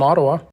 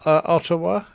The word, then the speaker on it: Ottawa: how do you spell ottawa it's o-d-o-w-a if you want to spell it phonetically yeah that is ottawa